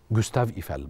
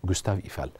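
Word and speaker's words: Gustave Eiffel: ايفال في في باريس جوستاف ايفال بنطقها مظبوط كده الجماعه اللي بيتكلموا فرنساوي صح كده جوستاف ايفال طيب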